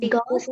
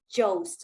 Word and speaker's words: ghost: That's why this word is ghost, and you don't read it as jost.